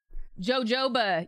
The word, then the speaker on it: jojoba: put on the oil jojoba you guys because you don't pronounce the J okay like this there